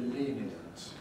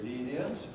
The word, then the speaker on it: lenient: can say that basically it has three syllables so we often pronounce it as three circles but we can also compress it and pronounce it just with two syllables we can say leave